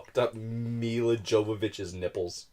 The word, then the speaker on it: Milla Jovovich: __ ] up I up milla jovovich his nipples it's like the people that put